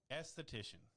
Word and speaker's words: esthetician: So, and I'm going to pronounce it correctly because she said I had it right. Esthetician.